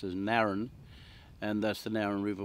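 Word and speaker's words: Narran: the lauren which is um uh it's now pronounced as naren and that's the narrow river which goes down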